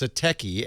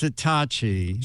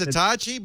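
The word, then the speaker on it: Satechi: find it you say it that way it's satki s a t yes I asked the pr lady she said no it's satachi she said it's satachi but it's spells I know it's s a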